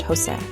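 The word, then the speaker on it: José: The letter J makes a sound like the H in house. For example, the name Jose is pronounced Jose.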